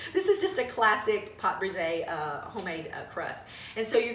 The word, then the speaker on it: pâte brisée: So to make the homemade crust, which is also called a pâte brisée, did I say that correctly? Nice French. Nice French pronunciation. This is just a classic pâte brisée homemade crust.